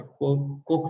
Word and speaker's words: Koch: है, कोच industries या कोक brothers, कोक pronounce करते हैं, कोच नहीं करते हैं।